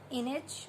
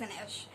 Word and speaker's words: Inej: i called her name i guess i called her image or image but after watching the show so she's an ish and then of course